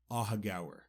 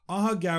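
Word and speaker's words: Aughagower: facts about a hoger and first how you spell it a u g h a g o w e r aaga just so you can see why I was in such disbelief aaga is a tiny village located in the west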